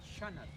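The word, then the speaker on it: Xanat: se llama Shanat. And they call it shanat. X-A-N-A-T. Shanat.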